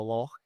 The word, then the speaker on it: loch: Well, the episode when they were on the lock, I was like, it's lock, not lock. It's lock.